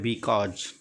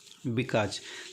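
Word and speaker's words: because: लिखा है बिकॉज, बिकॉज, तो अब इसको अगर बच्चा किसी का पे पढ़ेगा तो इसको नहीं पढ़ पाएगा, क्या हो जाएगा इसको बेकौजे, बेकौजे। तो बेकौजे जो होता है, ये बेकौजे कोई वर्ड नहीं है, लिखा है बिकाज, तो उसको ये वर्ड याद कराना पड़ेगा या बताना पड़ेगा कि नहीं बेटा ये बिकाज है।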